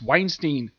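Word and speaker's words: Wallenstein: We also have Ice Weinstein. That's how you pronounce her last name.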